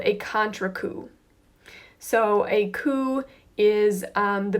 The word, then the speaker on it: coup: front of the skull this is called a cou cou P is pronounced qu and that is one of your